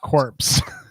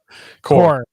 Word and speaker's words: corps: back in there got corpse core core yeah the p is silent uh so this is